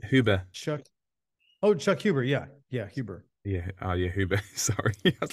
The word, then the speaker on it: Huber: I think that's how you pronounce his last name. he sounds Huber. Chuck Huber. Yeah. Yeah. Huber.